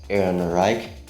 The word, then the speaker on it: Ehrenreich: sound in the english language uh it's then pronounced as a k so aaron reich which sounds just weird to me because i'm familiar with the german language anyway alden ehrenreich who played han solo in the solo star